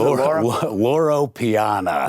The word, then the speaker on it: Loro Piana: Lauro Loro Piana.